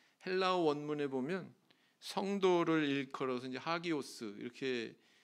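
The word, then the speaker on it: ἅγιος: 성도다 왜 그럴까요 헬라어 원문에 보면 성도를 일컬어서 하기오스 이렇게 발음하는데이 단어 뜻이 뭐냐면 신에게 바쳐진 자 하나님께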